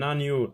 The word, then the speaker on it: agneau: Un agneau, la liaison N avec A, na.